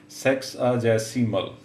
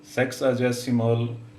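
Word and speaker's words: sexagesimal: व आया तो यह इसको प्रोनाउंस करना सीख ले सेक्स जसमल सेक्स जसमल सेक्स अ जसमल सिस्टम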